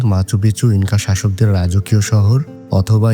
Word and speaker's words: Machu Picchu: স্পেনীয় উচ্চারণে শহরটির নাম মাচুপিচু হলেও অনেকের নাম উচ্চারণ করেন মাচুপিচু হিসেবে যার অর্থ পুরানো চূড়া।